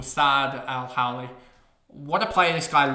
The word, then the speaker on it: El-Hawli: Zack Reed doesn't matter s Al Howley I think is how you say it or sad Al Howley what a player this